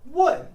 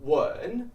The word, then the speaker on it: 问: 问 is a fourth tone, and it means to ask. Look at the character to ask. 问, third tone, means something entirely different. To kiss.